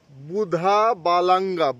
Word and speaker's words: বুধা বালাঙ্গা: একবার দেখে নিই এইযে এখানে একটা জিনিস আমরা ভুল বলেছি বুড়ি বালাম না বুধা বালাঙ্গা বুধা বালাঙ্গা দেখিয়ে দিচ্ছি